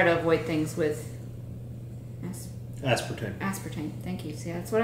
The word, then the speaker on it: aspartame: Aspartame, thank you.